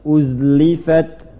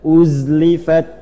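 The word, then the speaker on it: أزلفت: Enggak, jangan ada qalqalah, bukan huruf qalqalah. Uzlifat. Mengalir. Jadi jangan dipantulkan, bukan tidak. Uzlifat. Qalqalah cuma 5, qaf, ta, ba, jim, dal. Ya, di sini zai tidak masuk. Jadi mengalir bacanya, jaroyanil harf. Jadi mengalir. Mengalir tuh enggak, jangan dipantulkan, jangan ditahan.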